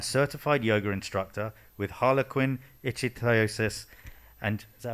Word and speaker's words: ichthyosis: rugby referee and certified yoga instructor with Harlequin ichthyosis. And is that how I pronounce it? Sorry, Mui, is that correct? Ichthyosis, sorry, perfect, ichthyosis.